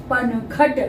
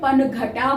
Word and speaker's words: पनघट: Spelling ये बनी PANAGHATA पनघट। तो इंग्लिश बोलने वाले हैं वो इसे पनघटा बोलते हैं, जबकि ये हिंदी में पनघट ही है।